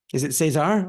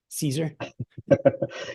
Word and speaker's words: Cesar: So see, is it Cesar, or it's not, or in more of like a an American mispronunciation? Is it Caesar? Yeah. It's both, either or, Caesar or Cesar.